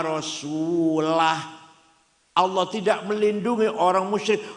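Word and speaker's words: وَرَسُولُهُ: Wa annallaha bari'um minal musyrikin wa rasulih. Allah tidak melindungi orang musyrik dan tidak melindungi Rasulullah. Salah. Yang benar bacanya wa annallaha bari'um minal musyrikin wa rasulah.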